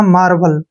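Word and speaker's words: marble: उच्चारण ल करते हैं और ई का उच्चारण हमने नहीं करना जब भी लास्ट में ही आता है तो ई का उच्चारण हम नहीं करते हैं तो यह हो गया दोस्तों अपना मार्बल क्या हो गया मार्बल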